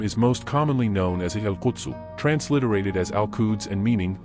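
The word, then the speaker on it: القدس: The Q is pronounced either with a voiceless uvular plosive, as in classical Arabic, or with a glottal stop as in Levantine Arabic.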